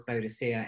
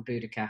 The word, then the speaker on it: Boudicca: other day i think i was bodocia in a previous life or boudicca however you want to pronounce it and she just